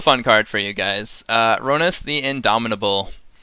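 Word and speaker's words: Rhonas: Some people, I've heard, and I can't put names on anyone, but I've heard some people call it Ronas. They're like, oh, let's just play our Ronas, the Indomitable. I call it Ronus.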